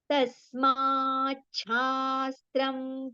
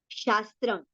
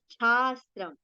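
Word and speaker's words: तस्माच्छास्त्रम्: Now here it is not shastram, it is chastram. So how do we say ichha? In this particular word, how do we pronounce ichha? Mein cha kaise pronounce karte hain? The same sound we have to take over here. Tasmachhastram. Okay, ichha wala cha. Okay, tasmachhastram pramanante.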